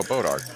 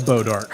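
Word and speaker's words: bois d'arc: that's an interesting spelling because I'd heard it pronounced before I saw it spelled so it's like oh bodark it's like that's French but we're gonna call it bodark this was Texas thing I've ever heard oh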